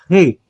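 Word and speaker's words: ריש: re é uma cultural Então observa como pronuncio rei você puxa ele aqui na garganta tá bom o rei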